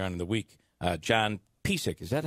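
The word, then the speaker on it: Piseck: John Pisak, is that how his name is pronounced?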